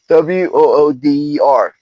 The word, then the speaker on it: water: It says WOODER. That's how people in Philadelphia area pronounce water.